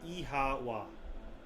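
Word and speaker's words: Oíche mhaith: One dialect would pronounce it as Ihawa.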